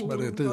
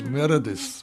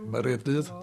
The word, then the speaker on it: Meredydd: My name is Meredydd Evans, spelt with a Y-double-D. The English spell it as Meredydd, but Meredydd Evans.